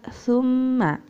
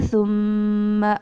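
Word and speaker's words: ثم: Nah, tadi membacanya masih sa-nya dibaca sa. Nah, itu kesalahan yang sering kita lakukan, yaitu melafalkan lafaz sa dengan bunyi sa, summa. Nah, itu diperbaiki ya. Besok membacanya summa.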